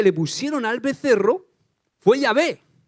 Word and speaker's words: Yahvé: Sabéis que luego ponemos vocales para poder pronunciar el nombre de Dios como Yahvé.